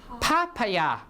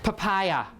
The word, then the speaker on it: papaya: last one papaya how do you how you pronounce it papaya or papaya or papaya right papaya right papaya so the stress is on the